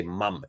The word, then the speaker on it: mum: The Brits, the Aussies, the New Zealanders, we all say mum, M-U-M. That's the pronunciation. Americans will say mom, M-O-M, how it's spelled.